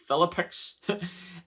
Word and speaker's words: Philippic: orchestrate this faing foes for example cisos Philip pronounce it philippic and declining health for example epilepsy according to